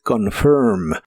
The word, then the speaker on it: confirm: presente de inglés es confirm. La o se pronuncia muy suave y el final se pronuncia como ferm, pero con tu lengua retraída hacia atrás y debe sonar como monstruo, como confirm. Confirm.